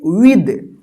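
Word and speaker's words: with: देखिए यहां पे डब्ल्यू आई टी एच, इसको क्या पढ़ेंगे, विद, विद पढ़ते हैं, विथ नहीं पढ़ते हैं, विद, ठीक है ना, विद।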